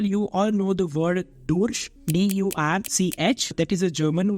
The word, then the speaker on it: durch: Till then I know that that word is pronounced as Durch. It is pronounced as Durch. But when you actually come into the market, when you hear how the Germans speak, they speak it like Deutsch.